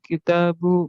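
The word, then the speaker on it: كتابُ: Aina kitabu Muhammadin? Iya, hati-hati bacanya ya. Kitabu, ya, jangan ditanwin. Nanti kalau ditanwin artinya bisa beda ya. Kitabu Muhammadin, seperti itu bacanya. Ya, betul.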